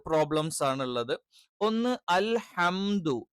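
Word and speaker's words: الحمد: ഈ ഹ കറക്റ്റ് വേണം. ഇതിന് പകരം അൽഹ എന്നായി പോകാൻ പാടില്ല. അൽഹംദു. ഈ ഹ എന്നുള്ള ഉച്ചാരണം എന്താണ്? ഇത് തെറ്റായ ഉച്ചാരണമാണ്. പകരം അൽഹ. ഹ എന്ന് തന്നെ ഉച്ചരിക്കണം. ഇത് തൊണ്ടയുടെ അല്ലെങ്കിൽ നമ്മളുടെ ത്രോട്ടിന്റെ മധ്യഭാഗത്ത് നിന്നാണ് എന്ത് ചെയ്യുന്നത്, ഈ ഉച്ചാരണം വരുന്നത്.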